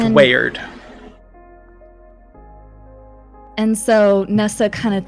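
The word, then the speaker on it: Weyard: the name wayward uh spelled by the way for those note takers w-e-y-a-r-d we yard we yard but it's pronounced weird and so Nessa kind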